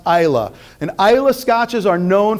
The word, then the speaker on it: Islay: It is pronounced Isla.